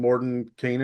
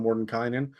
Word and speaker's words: Mordenkainen: Like I was saying Mordenkainen instead of Mordenkainen for the majority of the podcast episodes, and I've just trained everybody else to say Mordenkainen at this point, just